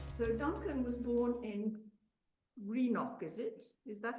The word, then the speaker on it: Greenock: So Duncan was born in Greenock, is it? Is that how you pronounce it? Greenock, yes.